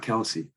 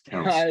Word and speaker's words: Kelce: It's not Kelsey. It's Kelce. It's Kelce. He said it. He said it himself to pronounce it Kelce.